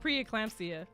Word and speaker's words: preeclampsia: She had how you pronounce that? Preeclampsia.